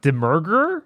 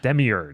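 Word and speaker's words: Demiurge: I don't know how to say this one Dem merger Demi urge Demi urge yeah Demi urge swashed up Agro I'm sorry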